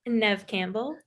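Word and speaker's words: Neve Campbell: Nev Campbell.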